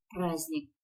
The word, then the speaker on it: праздник: слово с непроизносимым согласным праздник звук д не произносится в слове сердце точно также звук д